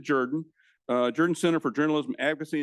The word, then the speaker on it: Jordan: By the way, we do pronounce it Jordan.